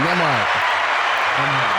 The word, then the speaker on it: Nembhard: Nah, the B is silent. The B is silent, so it's Nembhard.